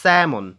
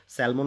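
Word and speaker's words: salmon: উচ্চারণটা হবে স্যামন, স্যালমন না, স্যামন।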